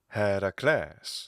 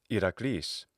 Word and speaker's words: Heracles: And in classical Attic, his name is Heracles. Very different from how it sounds in modern Greek, which is Heracles.